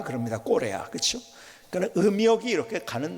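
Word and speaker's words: Corea: 뭐 또 남미에서는 우리나라를 K로 하지 않고 C라고 발음을 하죠. C 해가지고 꼬레아 그럽니다. 꼬레아, 그렇죠?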